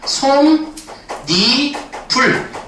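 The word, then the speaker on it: 솜이불: 니은 첨가라고 하는데 그래서 최종 발음이 어떻게 되는 거냐? 솜, 니, 불 이런 식으로 발음이 됩니다.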